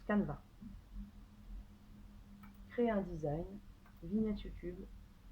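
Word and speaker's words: Canva: sur sur canevas canada comme ça se prononce kahn va créer un design ligne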